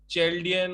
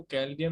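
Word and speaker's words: Chaldean: रहा है, वो भी बहुत सारे लोग चैल्डियन और शेलेडियन से पढ़ा रहे हैं, उनको यही पता नहीं कि वो कैल्डियन होता है।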